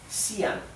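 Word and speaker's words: Xi'an: por la UNESCO bien sian bien ya saben entonces que la x se pronuncia s sí la y se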